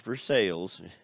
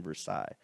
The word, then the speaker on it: Versailles: as the peace conference at Versailles not for sales some people in Ohio well the town in Ohio is uh spelled the same way but in Ohio we say for sales but for this verain Versailles because it's French who were the big